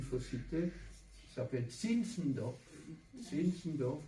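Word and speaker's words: Zinzendorf: Sinsendoor comme ça se prononce l' i M e M D O R F euh aristocrate de Césie qui promouvait lui qui était plus sentimental.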